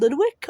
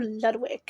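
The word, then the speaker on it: Ludwig: I'm not sure if his house is Ludwick or Lewick. I've pronounced it both ways.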